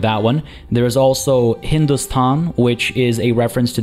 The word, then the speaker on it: Hindustan: the indus valley river however the persian pronunciation of indus was hindus there's the h at the beginning so it was hindustan the place of the